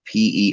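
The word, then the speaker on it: Pere Cheney: Pear Cheney, I believe, is the name of the town, or how it's pronounced. It's French now. It's Perecheney. But we're also I'm in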